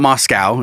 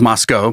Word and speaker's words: Moscow: have Moscow Russia but in Idaho you have Moscow it's not Moscow it's just Moscow because you know America and then Spokane is